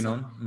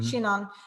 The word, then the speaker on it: Chinon: But the people that the Chinon, is that how you say it? Chinon. Chinon.